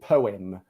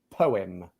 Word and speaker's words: poem: okay so the e the letter e becomes like basically a schwa sound like poem yeah it's too much